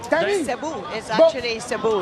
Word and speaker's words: Cebu: porous from Cebu City is that how you pronounce it Cebu yeah it's about an hour flight from Manila